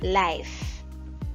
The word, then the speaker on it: life: Es decir, que esta pronunciación de la última sílaba la vamos a hacer como si fuera asoplando. Por ejemplo, life, ¿Ven? Al final se siente como que asopla un poquito.